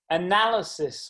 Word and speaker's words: analysis: Analysis was another difficult word. 4 syllables, second syllable carries the stress, so I typed NA in block capitals.